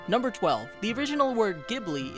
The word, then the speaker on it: Ghibli: 12 the original word gibli is pronounced with a hard G instead of a soft G used by the studio supposedly this was miyazaki's